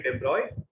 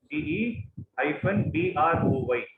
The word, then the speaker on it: de Broglie: It is actually de Broglie. DE-BROY. That is how it is pronounced.